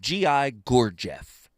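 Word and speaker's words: Gurdjieff: There's a guy by the name of Gi Gorgf. Look him up. GI Gorgf. I'm going to say it again because I'm saying it correctly.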